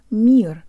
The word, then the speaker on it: мир: This word is simple, but we need a good Russian default mouth position to make it sound Russian. Jaw slightly forward, tip of the tongue behind the bottom teeth, lips rounded and protruded.